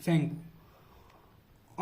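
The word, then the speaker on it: Tsangpo: इन तिब्बत में इसको बोलते हैं सेंगपो, टी साइलेंट रहता है, सेंगपो।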